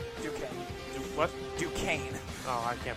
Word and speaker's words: Duquesne: Number 7, Dayton is up 66-60 over DeQuaite. Duquesne. What? Duquesne. Oh, I can't pronounce it.